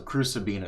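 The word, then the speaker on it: Crucabena: Okay, so Crucibina is how you pronounce that.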